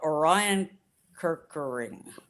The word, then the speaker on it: Orion Kirkering: things, everybody, baseball fans or not, knew about Orion Kirkering, is that how you say it?